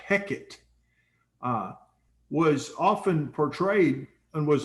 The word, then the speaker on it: Heket: But the god, and I'm looking at the name now, it's pronounced Heket, was often portrayed and was always portrayed with the head of a frog.